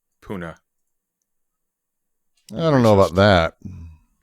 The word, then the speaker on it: Pune: It's actually pronounced puna.